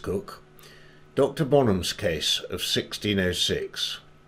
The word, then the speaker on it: Coke: in english case law sir edward cook spelt coke interestingly but pronounced cook dr bonham's case of